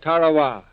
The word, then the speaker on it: Tarawa: a tiny island in the Mid Pacific called Tarawa. That pronunciation, incidentally, is from the National Geographic Society. That island will never be important economically. It is no rich source of raw materials, but the name of Tarowa has been written indelibly into American memory in